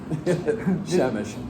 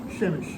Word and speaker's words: Przemyśl: Przemyśl. Yeah, they figured that out, of course. This is worse than the French with their silent letters. Yeah. I mean, Poland. Anyhow, Przemyśl.